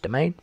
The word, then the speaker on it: demesne: one that looks like demesne yeah actually it's pronounced domain so the domain it effectively means like what